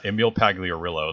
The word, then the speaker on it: Emil Pagliarulo: Emil Pagliarulo, that's how you say his name.